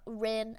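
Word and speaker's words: Ryn: uh my one of my newer OC's uh Rin Halverson so Rin it's spelled like r-y-n um they are this is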